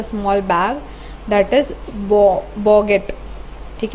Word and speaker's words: bougette: That is बॉगेट. ठीक है, बॉगेट का स्पेलिंग देख लो, BOUGETTE, जिसका मतलब होता है स्मॉल बैग.